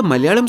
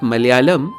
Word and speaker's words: Malayalam: If you look at the Malayalam spelling, you notice that the two L's are different. एक वो simple ल है जिसे कहते हैं alveolar ल, मगर दूसरा रेट्रोफ्लेक्स है। So it's not Malayalam, it's Malayalam.